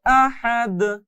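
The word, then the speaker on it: أحد: তাহলে এখানে এক আলিফ, এখানে তিন আলিফ এবং এখানে কলকলা। তাহলে মোট মেলে উচ্চারণটা এরকম হবে। আহাদ।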